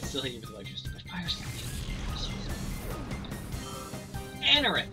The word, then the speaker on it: Anorith: Anorith, that's how you pronounce it. Okay. Your experience of art literally didn't even budge. Anorith, you're dead.